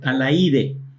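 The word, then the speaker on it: Alaíde: Se llama Alaide. Sí. Con acento en la I.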